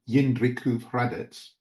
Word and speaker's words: Jindřichův Hradec: church in, hang on, I'll say it correctly, Jindřichův Hradec.